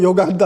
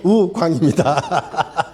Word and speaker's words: 우광: 분도 있는데 저는 오광도 아니고 요광도 아니고 우광입니다. 근데 미국 사람들은 우갱이라고 해 가지고 나는 갱이 아니야 그고 할 수 없이 앞에 떴다하고 말씀을 드렸습니다.